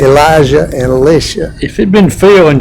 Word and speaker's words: Elisha: And for the purposes of keeping them separate, I'm going to pronounce them Elijah and Elisha because Elisha is actually the way you pronounce his name.